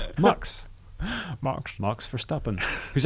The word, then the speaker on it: Max: here's the fact max Verstappen or if you're pronouncing it properly MUX first up and is MUX for stopping that